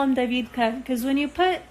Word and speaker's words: David: getting tired guys so my son's name is david or david it's spelled like it sounds like d-a-h-v-e-e-d in russian david it's a more popular